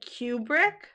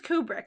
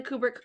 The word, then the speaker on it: Kubrick: they kept saying Stanley Cubri and now I'm probably saying it wrong. I'm famous for that. I think it's Kubric and every time they said Cubrick I was Kubri.